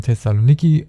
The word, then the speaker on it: Thessaloniki: Wir haben ja in der letzten Mission Thessaloniki abgeschlossen. So wird es ausgesprochen.